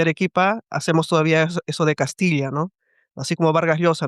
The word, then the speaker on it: Castilla: Existió, incluso yo creo que en el último siglo nadie pronuncia esa diferenciación de Castilla a Castilla. Eso no, ya no existe.